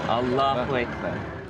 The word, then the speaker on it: Allahu Akbar: Inflection is on the second syllable. Allahu Akbar.